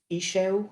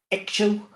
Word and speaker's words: Ixchel: E-Shell Trinity essences they're called, which is another strange one, but explained by, it was the goddess E-Shell, which is spelled Ixchel, but she was adamant that the